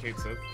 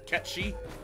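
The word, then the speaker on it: Cait Sith: maybe i don't like kate said or catchy as it's supposed to be pronounced but man final fantasy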